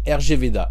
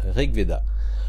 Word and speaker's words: RG Veda: à régler da alors j'ai toujours dit rg veda mais ça se prononce reda alors je me souviens